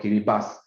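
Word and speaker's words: Kiribati: the island it's called kiribas yeah the the pronunciation is called kiribas and this island light is very interesting it's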